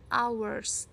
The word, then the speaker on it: hours: clock tapi kita pakainya Ours tulisnya me tulisannya memang hours Tapi bacanya Ours kalau satu jam maka